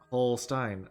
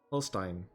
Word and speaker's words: Holstein: Holstein is pronounced like Holstein. Oh, like just Holstein? Holstein. That makes sense, right? It's like Frankenstein, but Holstein instead of Frank, right?